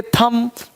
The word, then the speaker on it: thumb: THUMB थंब बोलेंगे थम मतलब अंगूठा। तो बी साइलेंट रहता।